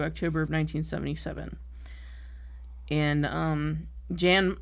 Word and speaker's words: Jan: and um Jan I think that's how you say his name Jan the uh actor I don't think it's yawn but Jan Michael Vincent